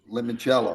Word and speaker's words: limoncello: Limoncello.